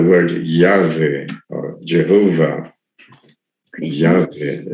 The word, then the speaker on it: Yahweh: This is why the word Yahweh or Jehovah, 그래서 Yahweh is probably the best pronunciation of that word.